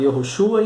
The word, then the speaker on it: Yehoshua: É o mesmo nome de Josué no Antigo Testamento, que era pronunciado Yehoshua, enfim.